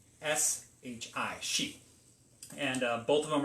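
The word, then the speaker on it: 四: They don't sound anything alike, but in the Japanese dialect, it is pronounced shi, S-H-I, shi.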